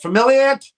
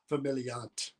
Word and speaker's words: Familiant: I'm like, Familiant? He's like, no, Familiant.